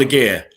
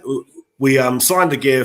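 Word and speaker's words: Aguerd: days, and we signed a gear, okay? Apparently that's his correct pronunciation. It's a gear. You don't pronounce a D, okay? So we signed a gear from Rennes, and I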